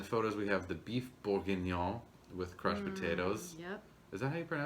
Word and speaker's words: bourguignon: then in the photos we have the beef bourguignon with crushed potatoes yep is that how you pronounce that yeah it is okay good good